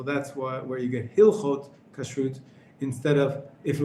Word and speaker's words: Hilchot: put the two nouns together same thing with hilhot is the correct pronunciation we have and you you put them